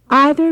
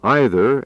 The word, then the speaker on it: either: Either means one of two. Neither means not one of two. By the way, either and either and neither and neither are both correct pronunciations.